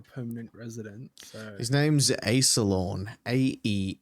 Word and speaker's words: Aesalorn: So His name's Aesalorn. Aesalorn.